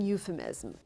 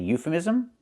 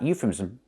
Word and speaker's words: euphemism: This is peak American euphemism. This is peak American euphemism? First, pronunciation. It's not euphemism, it's euphemism. We need that ism, that extra syllable. Euphemism. So euphemism. Make it 4 syllables.